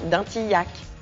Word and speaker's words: Dintilhac: lui donne son nom prononcé bien dintilhac comme dans yacco en 1920 la société